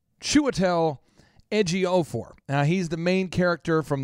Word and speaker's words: Chiwetel Ejiofor: this for at least a month, practicing the pronunciation of this, and it's still not helping, but it's Chiwetel Ejiofor.